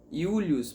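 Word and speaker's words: Iulius: 5 Quem é você Julius yurius Pode parecer estranho a começo mas porque Julius em latim o J não existe como o J não existe os romanos substituem pela letra i através de ser julios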